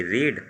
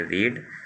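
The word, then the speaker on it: read: पढ़ने की होती है रीड, और स्पेलिंग वही रहती है, प्रोनाउंसिएशन बदल जाता है सेकेंड और थर्ड फॉर्म में। फर्स्ट फॉर्म में इसको पढ़ते हैं फर्स्ट फॉर्म में इसको पढ़ते हैं रीड, सेकेंड और थर्ड फॉर्म में पढ़ते हैं रेड।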